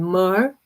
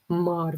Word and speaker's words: myrrh: I recommend you clary sage, um myrrh, myrrh, very important, okay? I'll show you the the oil because I may pronounce it weird because of my of my accent.